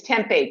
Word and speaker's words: tempeh: No, tempeh, it's not tempura. It's tempeh.